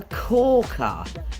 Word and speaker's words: corker: a cker what a corker the last word is just two syllables guys Cork and uh what a cker what